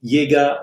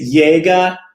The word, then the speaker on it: Jaeger: do what you want but I will continue to pronounce his Yaga Lakota I say Yaga in a more German way and look older in